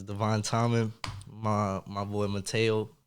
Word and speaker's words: Mateo: My boy Mateo. Mateo, right? That's how you say Mateo, yeah.